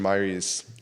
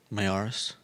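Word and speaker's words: Miyares: external review commissioned by Virginia Attorney General Jason Myers. I always mess up his last name. Mayaris.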